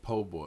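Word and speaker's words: po' boy: his refill right here it's pronounced po-boy okay I got my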